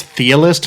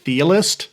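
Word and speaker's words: Chthe'ilist: I think it's Thealist, like Cthulhu, It's like Okay. CTH, like Cthulhu. So Yeah. the C is sort of silent, so it'd be like Thealist.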